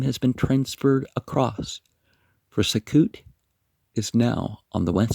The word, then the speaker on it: Succoth: It is still called by its ancient name, pronounced by the Arabs Sukkot, and is believed to